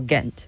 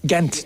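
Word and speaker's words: Ghent: And that's why we write an H in English behind it.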